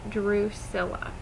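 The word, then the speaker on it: Drusilla: bye tumbler oh and my name is pronounced Drew Silla and you can call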